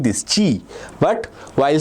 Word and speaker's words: chi: spelled by like this chi, but while spelling we say ch is k, so it's chi. Okay, ch is spelled as ka, so this is chi.